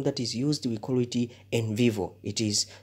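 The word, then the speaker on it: NVivo: popular computer program that is used with quality in vivo it is spelled as n v i v o uh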